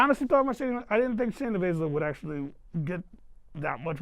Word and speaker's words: Shayna Baszler: Yeah, I think Shayna Baszler, as you pronounce her name.